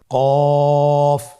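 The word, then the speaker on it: قاف: কফের মাখরাজ হলো জিহ্বার গোড়া তার বরাবর উপরে তালুর সঙ্গে লাগিয়ে উচ্চারিত হয়। জিহ্বার গোড়া তার বরাবর উপরে তালুর সঙ্গে লাগিয়ে উচ্চারিত হয়। আপনারা উচ্চারণ করুন কফ।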